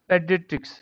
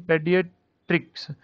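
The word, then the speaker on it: pediatrics: पहले तो इसकी प्रोनाउंसिएशन पेडियाट्रिक्स, पीडियाट्रिक्स।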